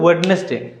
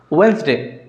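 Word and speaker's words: Wednesday: आ गए कमन मिस्टेक आम कहे वेडनेसडे आज कौटे वेडनेसडे यहाँ वेडनेसडे नुह वेन्सडे या करेक्ट तो किसी कमन मिस्टेक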